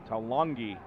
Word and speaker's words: Talongi: Talongi is how you say Tavita's name, last name.